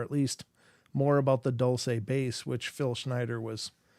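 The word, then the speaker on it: Dulce: pronounced or spelled D L CE and it's pronounced Dolce um a lot of people say Dolce but it's it's Dolce base and uh I thought well I just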